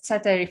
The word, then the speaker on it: Tsateri: And yes, my name is Tsateri. I know it's difficult for non-Greeks. So yes, Tsateri, for those who want to remember it. No problem, though, if you mispronounced it.